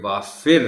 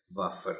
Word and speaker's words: وافر: نے کیا پڑھا تھا۔ سو یہ وافر ہے، وافر نہیں۔ حجام جیم پر شد